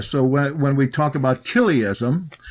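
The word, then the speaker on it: chiliasm: Lambda uh come up to 1000 we can pronounce that KIA so when we talk about kism c h i l i i SM kism we're talking about somebody that's Millennial and believes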